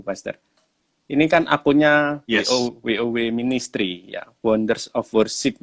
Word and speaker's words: WOW: Jadi kita iya. bacanya WOW, WOW Wow.